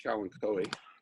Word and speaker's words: Kalanchoe: a type of variegated cow and chloe which is the typical pronunciation not philanthropy even though it looks like kalanchoe that's going to be